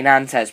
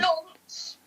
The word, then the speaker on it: Nantes: We're gonna have to say Nantes because we don't fancy saying it again. Nonce, as it is actually said.